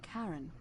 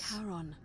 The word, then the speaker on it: Charon: Your pronunciation is a little off. The name you heard wasn't Karen. It was C-H-A. Oh, the Greek, the wife of Hades. Charon, the ferryman of the dead.